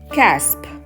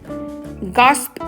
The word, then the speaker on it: gasp: காஸ்ப் அப்படின்னு சொல்லக்கூடாது, கேஸ்ப் அப்படின்னு சொல்லணும். கேஸ்ப்.